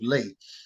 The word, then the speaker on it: Leigh: This is how I came upon my name of Lee, which is spelled Leigh.